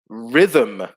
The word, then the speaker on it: rhythm: good one as well rhythm yes silent h in rhythm uh that's a good